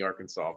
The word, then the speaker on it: Arkansas: the population of arkansas i laughed when i see arkansas because i swear to god it's arkansas if they wanted it it's pronounced differently they should have spelled it differently it's a cruel game